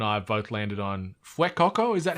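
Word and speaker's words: Fuecoco: that you and I have both landed on fuekoko is that how you pronounce it properly yeah Coco yeah Fuego he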